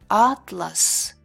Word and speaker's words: атлас: Атлас, атлас.